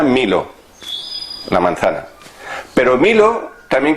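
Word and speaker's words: μήλο: Claro, la manzana en griego se llama milo. Se pronuncia milo, la manzana.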